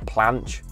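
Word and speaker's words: planche: after watching more videos I think it's pronounced like a a planch I want to be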